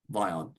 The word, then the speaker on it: Vion: normal summon, our Vion, our guy that rhymes with Lion, Vion.